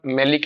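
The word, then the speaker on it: maleic: आगे बात में, तो आप इसको ऐसे रख सकते हो ना, मालिक एसिड, प्रोनाउंसिएशन अलग करो, मालिक एसिड, वो मेलिक, ये मालिक।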